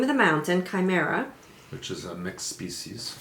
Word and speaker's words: Chimera: word how do you say that word Oh chimera ok mount chimera it is a mysterious methane